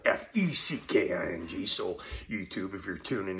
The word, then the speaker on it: feckin: of the irish the brit said over there that's spelled f-e-c-k-i-n-g so youtube if you're tuning in that was